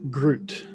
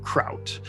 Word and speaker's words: gruit: pronounce it that way a more authentic pronunciation as much as this midwesterner can do would be something closer to kraut so like kraut and